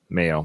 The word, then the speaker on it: Mayo: Mayo, like mayonnaise.